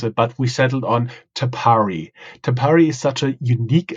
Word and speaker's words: Tapari: been a little bit think about how to pronounce it but we settled on tapari tapari is such a unique and Innovative concept